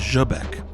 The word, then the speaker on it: Zbec: Though I'm not sure if this is intentional or correct as Zbec is more accurately pronounced as Jabbeck.